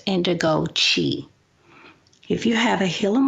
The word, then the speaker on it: Indigo Qi: It's pronounced Indigo Qi.